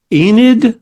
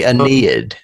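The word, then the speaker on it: Aeneid: actually first mentioned in the Enid I think is the way you pronounce it AE NE D oh no the anid you're talking about Virgil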